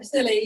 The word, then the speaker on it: Scilly: the Isle of, oh, I'm going to say it wrong, but it's Scilly? Oh, silly, yeah.